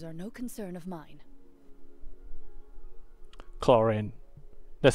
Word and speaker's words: Clorinde: extraneous details those are no concern of mine clorine that's how you pronounce the name so yeah uh my first